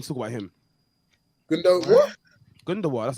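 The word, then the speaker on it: Gündoğan: Gundogan. That's how you pronounce his name.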